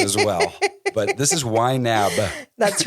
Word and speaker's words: YNAB: understand what YNAB is y na a b you pronounced that and articulated that very well most people think it's wine app what is this wine